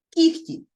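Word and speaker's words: кігті: Що ж тут відбувається кіхті кіхті пишемо тому що кіготь А що у вимові відбувається і у нас напівм'який і ми чуємо х чому так т глухий звук і він впливає на попередній дзвінки і у вимові Вони стають оці звуки глухими Ось що ми бачимо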